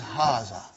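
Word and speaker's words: هذا: pronounced like hara but this alif is not written it is explained in the key also so it is haza okay means this and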